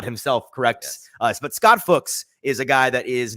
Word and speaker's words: Fuchs: It's like books. Fuchs. You could say it F-U-C-H. There are multiple. There are better ways. You could say it like Fuchs. There's obviously the profane way of saying the word, which is funny, but I don't think it's correct. It's Fuchs.